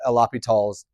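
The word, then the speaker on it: L'Hôpital: what we will call Alapall's rule. So some books you'll see this is hospital. Um looks like la hospital but it's the same name just pronounced and changed a little bit.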